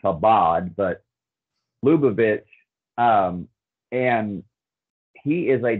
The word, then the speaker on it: Chabad: Jared Kushner is a devout Chabad Lubavitch, and it's spelled Chabad, pronounced Chabad, but Lubavitch, and he is a devout practitioner or follower of that branch of Judaism.